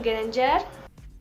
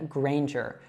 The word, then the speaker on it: Granger: So this is pronounced as Hermione Granger. Hermione Granger. Now, in the last name, Granger, you should say that A as if it were like in the word rain.